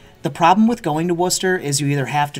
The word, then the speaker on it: Worcester: Louisville Louisville no it's it's 100% it's it's pronounced Wooster but I call it Worchester because look it's there's just no H there